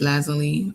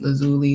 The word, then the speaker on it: lazuli: turquoise, uh maybe even lapis lazily or lapis lazuli depending on how you pronounce it. I like lazally um for all my Steven Universe fans out there and yoga poses.